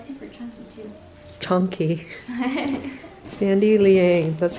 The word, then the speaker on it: Sandy Liang: oh yeah they're like super chunky too chunky sandy liang that's how you pronounce it guys you heard it here first